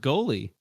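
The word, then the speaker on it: Goli: numbers I haven't seen goly probably golly yeah how do hold on how do you pronounce it's pronounced goalie goalie it is goalie I think goalie's hot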